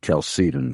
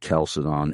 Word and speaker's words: Chalcedon: Yes, I know, but I believe that those in your organization pronounce it Chalcedon, correct? That is correct. And not Chalcedon, and not Chalcedon or Chalcedon.